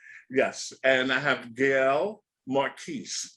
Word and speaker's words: Marquis: right yes yes yes and I have Gail Marquis correct correct that's right hey all right it's good to pronounce it right but I know some people